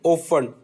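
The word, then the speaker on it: often: Whistle से हमने बनाया लिसन एंड ओफन, इसमें टी साइलेंट है।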